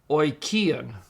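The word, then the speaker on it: οἰκίαν: The word oikion. Oikion means house. So omicron iota is pronounced oi.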